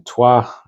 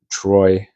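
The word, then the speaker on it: Troyes: Um, and uh, just for context, Rashi lived in Tua Troy in the pronun in the English pronunciation in France.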